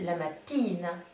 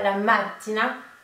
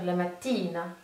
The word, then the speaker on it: mattina: Le matin en italien, c'est féminin, donc ça se dit la mattina. La mattina. Alors très attention, ne faites pas la mattina, parce que du coup ça fait penser à la prononciation du mot voiture, qui est la macchina. Là on est bien sur la mattina.